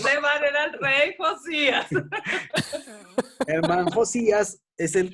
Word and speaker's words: Josías: Josías, se escribe Josias, Josías, el rey Josías.